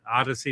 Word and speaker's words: Audeze: Odyssey is the brand name. Yeah, it's spelled AUDEZE.